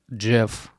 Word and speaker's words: GIF: oh like is it gif or GIF GIF or is it gif GIF just reminds me of peanut butter like GIF peanut butter apparently it's apparently it's according to the Creator it's GIF is it really but